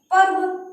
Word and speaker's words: पर्व: अब देखो इसका उच्चारण कहाँ हो रहा है, पर्व। कहाँ हो रहा है, पर्व।